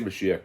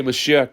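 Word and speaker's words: משיח: They'll say Mashiach now, right? That's how they say it in modern, Moshiach. There's no Elaf and Vav before the Keith. They add all these extra vowels to words. Mashik. So they say Mashiach now, but they don't want Mashiach,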